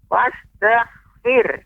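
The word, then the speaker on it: وَاسْتَغْفِرْهُ: Adapun pengucapan hanya wastaghfir, ya, kurang tepat. Karena ada huruf H. Maka kita berikan tambahan angin. Kita berikan huruf H di ujungnya.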